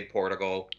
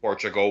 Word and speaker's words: Portigal: So I say Portugal. Some people say Portugal, which is wrong.